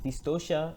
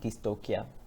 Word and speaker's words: dystocia: important to note that it should be pronounced as dystocia and not dystopia this is a common mispronunciation to put in simple